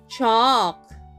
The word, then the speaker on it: chalk: Chalk. C-H-A-L-K. Let's spell that again.